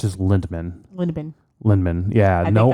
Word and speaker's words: Lindemann: for many many years I always thought there was an r in there so it was Linderman but I think it's just lindman lindman lindman yeah no